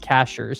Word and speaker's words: Cashiers: Okay, pronounced Cashers.